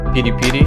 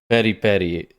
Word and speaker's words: peri-peri: Peri-peri. That's another pet peeve of mine is when people pronounce it peri-peri. I understand phonetically if you're reading it like that, but we would say peri-peri.